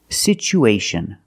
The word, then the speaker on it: situation: it with e sound it's pronounced sichu situation one situation or two situations so the second syllable is the long u like Boot and moon situ situation we have